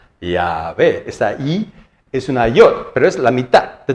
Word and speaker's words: Yod: Esa es la letra Yod, que se pronuncia como una I, ¿no?